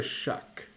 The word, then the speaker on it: Shough: I believe it's Tyler Shuck. Shuck. Shuck. Shough, and it's Shuck. I know how it's spelled. I'm pretty sure it's pronounced Shuck.